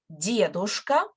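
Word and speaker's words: дедушка: so let's repeat that stress on the first syllable diadosa so we have much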